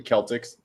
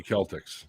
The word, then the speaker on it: Celtics: It should be Celtics. Is that what you're It thinking? should be Celtics. Yeah. Both are technically correct. I hate words that are pronounced two ways.